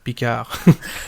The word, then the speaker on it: Picard: I'm a Star Trek fan, and right now both Picard and, properly pronounced, Picard, and Discovery have continuously disappointed me.